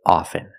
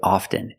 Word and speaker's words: often: words soften and often with both words I don't pronounce the T I say soften and I say often but sometimes you'll hear people say often and it's not wrong it's okay people say both often and often I prefer soften now